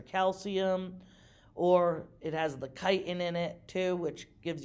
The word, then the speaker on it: chitin: It's high in something called chitin, CHITIN is how you spell it.